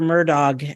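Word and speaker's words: Murdaugh: this week because lawyer murdog actually um and that's how you pronounce his name according to everybody down in South Carolina murdog even though it's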